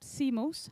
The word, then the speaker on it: CMOS: the speaker iwan malander will talk more about CMOS he just learned me that's how you pronounce it image sensors sensors which is a